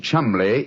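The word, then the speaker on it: Cholmondeley: reason to know that the name chumley is in no way pronounced the way it is spelt never thought of that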